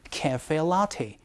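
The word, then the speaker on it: café latte: 카페라떼가 아니고요. cafe latte. 이런 식으로 발음해 주시는 게 조금 더 정확한 표현이 되겠습니다.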